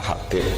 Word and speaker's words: Habib: Itu di harokatnya kitab itu ada yang nulis Hubab. Yang benar, oh enggak, yang benar itu bacanya Habib.